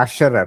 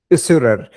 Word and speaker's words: usurer: It's not the assurer, one who it's the usurer.